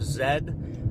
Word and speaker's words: Z: City of Z, but in England they pronounce the letter Z as Zed, and that's just how they go about it.